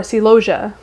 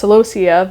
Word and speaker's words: celosia: Of course, you probably know from the title of the video as well, but it is coxcomb or celosia, which I used to pronounce celosia because I didn't actually look up the pronunciation.